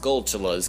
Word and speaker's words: Skulltula: We have all of these Skulltulas, or I guess they would be pronounced Skulltulas, kind of like tarantulas.